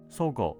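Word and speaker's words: 十合: The main store of Sogo Department Store operated in Shinsaibashi for over 130 years.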